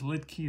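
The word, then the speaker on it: Luetge: So his name is Lidke, that's how you pronounce it.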